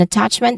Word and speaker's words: attachment: Starts with ishwa sound which is a short and stressed vowel and then touch. This is a stressed syllable part of of the word.